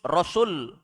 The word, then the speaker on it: rasul: Kalau setelah huruf sin ada waw, bacanya rasul. Artinya satu orang rasul. Tapi kalau datang dengan kalimat tanpa waw di tengah, rusul itu jamak, artinya rasul-rasul.